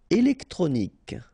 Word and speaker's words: électronique: Électronique. Okay, so k at the end. Remember Q-U-E at the end. K.